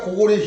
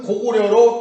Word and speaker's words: 고구리: 조선이 있으니까 조선현을 두고 고구리가 있으니까 고구리 현을 두고 낭랑국이 있으니까 낭랑군을 명칭을 사용하는 그런 것입니다. 이렇게 하고 있는데 고구리라는 명칭이 정조대왕 때까지 분명히 고리라고 읽으라고 되어 있습니다. 근데 조선 총독부에서 무조건 고구려로 통일을 하라, 고려로 통일을 하라 해서 고려라고 통일한